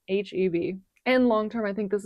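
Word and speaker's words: H-E-B: So, we love it here in Texas and it's not pronounced eb. I made that mistake when I first moved out here from California. It is pronounced H EB.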